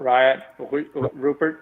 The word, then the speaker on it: Rayan Rupert: Eric and I have talked about how do you pronounce it? Rayan Rupert. Rayan Rupert.